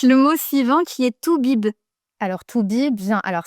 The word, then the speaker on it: toubib: Alors, on continue un peu avec le thème des docteurs avec le mot suivant qui est tout bib.